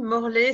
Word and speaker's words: Morlet: Voilà, donc moi je m'appelle Morlet, ça s'écrit ET comme Chevrolet, ça me rappelle quand j'ai eu la certification aux États-Unis en 2012, ils ont dit Morlet. Alors j'ai dit c'est comme Chevrolet, et maintenant ils prononcent mon nom correctement.